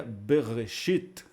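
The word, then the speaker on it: בְּרֵאשִׁית: Então ficaria assim, beit mais shivá, b, a segunda sílaba, resh, tsere, e o aleph ficaria re, e a última sílaba da palavra bereshit seria o shin, o chirik yod e o tav, que é uma sílaba fechada. Então você tem uma meia sílaba, por assim dizer, b, uma sílaba aberta, re, e a sílaba final, a sílaba fechada, consoante, vogal e consoante, seria shit. Então ficaria bereshit, em princípio.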